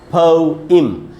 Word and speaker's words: poem: हैं पोएम, POEM, और इसका जो करेक्ट प्रोनाउंसिएशन है ब्रिटिश इंग्लिश में वो है पोइम। प प्लस फ का साउंड है, छोटा ऊ है फ, आज छोटी ई है ई और म, पोइम पोइम पोइम ऐसे पढ़ना है।